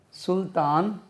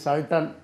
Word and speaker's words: sultan: சுல்தான் சுல்தானா. இது சல்டன். ஆங்கிலேயர்கள் இது சல்டன் அப்படி என்றும் உச்சரிப்பாங்க. பட் நம்ம வந்து இது இந்தியன் வேர்டு. அது சுல்தான் ராஜா. SULTAN சுல்தான். சுல்தானா என் மாதிரி இருக்கா, இது எம் மாதிரி ஆகிட்டா.